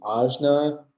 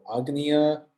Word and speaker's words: Ajna: Okay, so this third eye or brow chakra has a few pronunciations. It could be Ajna or Agnya or Anya. Okay, up to you.